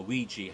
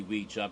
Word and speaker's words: Ouija: and we jump a ouija harvey went to pronounce it should be we'd jar because it's from the the word for yes in french and the